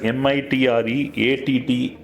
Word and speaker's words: MITRE: It is pronounced as MITRE framework, right?